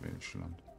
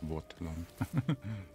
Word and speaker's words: Welschland: Das ist das Welschland. Nicht das Wortland.